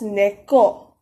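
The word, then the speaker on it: 내 것: mine is negot nego but negot is usually how you would write it while you speak it is uh usually pronounced as neko you probably have heard neco a lot so that's how it is usually spoken the next is form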